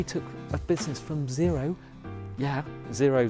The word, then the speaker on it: Xero: We've got Gary Turner of Xero, how he took a business from zero, zero though it's spelled Xero, how he took it to 25 million and growing.